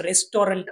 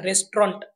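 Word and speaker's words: restaurant: असल्यामुळे आपण याचा उच्चार रेस्टॉरंट असा करायला हवा. रेस्टॉरंट म्हणजेच उपहारग्रह आपल्या लिस्टवर आहे इंटरेस्टिंग अनेकदा आपण या शब्दाचा उच्चार इंटरेस्टिंग असा करतो पण याचा उच्चार आपण इंटरेस्टिंग असा करायला हवा इंटरेस्टिंग म्हणजेच मनोरंजक नेक्स्ट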